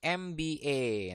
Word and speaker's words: MBA: engineer a Bat an Mba nah perhatikan di sini Walaupun dia depannya huruf mati tapi dibacanya adalah m jarti depannya adalah e ya makanya dia pakai